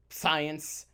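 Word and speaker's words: psience: Markey with his research on cognitive science. You got to pronounce the P. Science. You have to pronounce the P.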